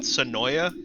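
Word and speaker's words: Senoia: two seconds is that sanoya georgia i think it's pronounced to noah but yes s-e-n-o-i-a gotcha i found that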